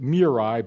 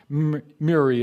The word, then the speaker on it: Muri: the name of jim mary and down in mile city some people pronounce it mirai but miri is the pronunciation we'll use it's a norwegian name and it talked about